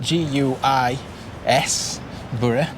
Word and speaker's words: Guisborough: Before we get onto the railways, what can we tell you about Guisborough? It's spelt G-U-I-S, Borough, but it's pronounced Guisborough.